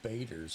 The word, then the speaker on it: Bader: Oh, Bader's. That's how you pronounce his name.